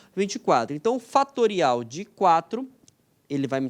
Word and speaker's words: factorial: que é o factorial nessa escreve factorial mas se pronuncia fatorial ele vai pegar o